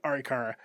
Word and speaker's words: Arikara: Yep, Arikara.